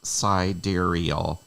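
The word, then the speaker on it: sidereal: operations per second dark is the unknown siderial pronounced siderial is a more 11 spelling of sidal okay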